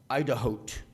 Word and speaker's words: IDAHOT: uh the acronym is idahot like the word Idaho with a T at the end and I thought that